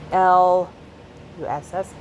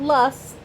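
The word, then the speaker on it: loess: Idaho between pulman and Moscow um L it's pronounced L SS L not lust L is defined as fine grained silt Geo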